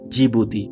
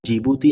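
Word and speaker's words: Djibouti: तो यहाँ पर कौन सा देश है गाइज, तो वो है जिबूती। ओके, यहाँ पर डी साइलेंट होता है, इसे हम जिबूती आइलैंड्स भी बोलते हैं।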